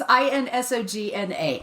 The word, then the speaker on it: Insogna: Leslie Mazzara and Adrian Izogna. Okay. I have no idea. I apologize. I'm probably mispronouncing her name. Oh. Insomnia? Maybe. I was trying to pronounce it like lasagna. It's INSOGNA.